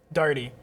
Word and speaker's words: Daigle: that's how people speak when i tell people how to pronounce it i say and you just say it as fast as possible dirty okay because if you